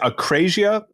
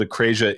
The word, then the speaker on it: akrasia: So how do you pronounce? Is it akrasia? How do you? Yeah, that'll do. Yeah, akrasia.